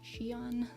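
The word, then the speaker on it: Xion: of confusing it's x i o n but pronounced Shan um yeah he's a good singer and performer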